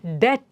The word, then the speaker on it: debt: is silent there similarly d e b t b is silent dead Okay um he did